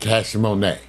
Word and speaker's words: Cash Money: And they pronounce it Cash Monet. So you meet, hi, what's your name? My name is Cash Monet. How do you spell that? CASHMONEY.